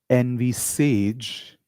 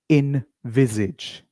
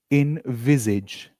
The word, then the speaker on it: envisage: A lot of people will say envage but the correct pronunciation of this word is invisage. You should say viz not vis.